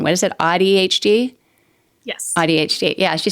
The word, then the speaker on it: AuDHD: AuDHD?